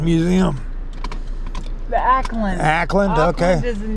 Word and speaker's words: Ackland: Nancy Alex took me out today to Aukland Museum. The Ackland.